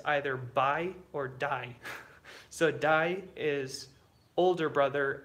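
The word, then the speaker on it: दाइ: Dai. Buyer? Yeah. No, it's, how would you spell it? I think like B-A-I or, yeah, Jessica, that's right. Or D-A-I. So yeah, it sounds like die, like D-I-E, but it's, yeah.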